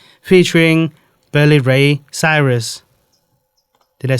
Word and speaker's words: Cyrus: Fun fact: did you know Old Town Road by Lil Nas X, featuring Billy Ray Cyrus? Did I say it right? Cyrus.